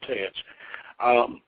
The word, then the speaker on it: TEX: lowest, which is Teats, and I spelled text, by the way, but it's pronounced Teats.